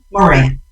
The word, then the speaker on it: Moran: Moran.